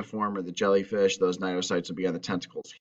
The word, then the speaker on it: cnidocytes: Cnidaria have a specialized cell that they use to sting and hurt their prey called cnidocytes. The C is silent here, cnidocytes.